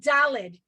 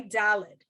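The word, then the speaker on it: דלת: new letter it's called dalid d-a-l-e-d okay dalid and it makes it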